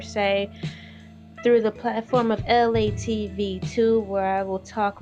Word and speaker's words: ELAY: E L A Y. Pronounced LA like the city.